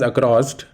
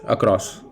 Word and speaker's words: across: We don't pronounce it as across, rather, the correct pronunciation for this word is across.